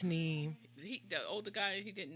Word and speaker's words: neem: It's Neem.